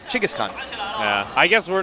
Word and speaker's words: Genghis Khan: their their presidential building it's all called Genghis Khan but yeah although they say it differently it's pronounced that Chika's Khan yeah I guess we're